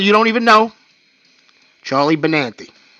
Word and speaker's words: Benante: Or Benante, sorry, I don't mean to say it like that. I'm from the East Coast. I'm gonna say Benante in a heartbeat because that's how we pronounce it, growing up.